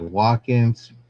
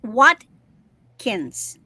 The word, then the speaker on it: Watkins: Well, it sounds like you're saying walk-in like W a L K I N. It's Watkins.